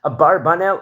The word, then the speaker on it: Abravanel: pronounced in of itself some people say pronounce it as abarbanel or AB brael even so there's different